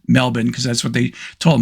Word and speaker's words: Melbourne: I guess if you're from Australia, at least I was told, you pronounce it Melbourne. You don't say Melbourne. If you say Melbourne, you're a tourist.